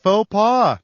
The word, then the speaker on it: faux pas: what the hell it rhymes with doha now's the time you got it faux pas yet another euphemism from